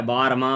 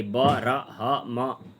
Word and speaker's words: ब्रह्म: कतिपयहरूले ब्रह्म भन्न नजानेर वर्म भनिदिन्छन्। वर्म भन्दा भन्दै भुल्यो झुक्कियो भने भ्रम पनि हुन्छ। अब ब्रह्म भनेको चाहिँ ब्रह अगाडि ब र ह म, ब्रह्म यस्तो उच्चारण गर्नु।